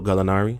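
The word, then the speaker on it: Gallinari: to trey young give credit to daniel gallantilo galinari that's how you say it absolutely um but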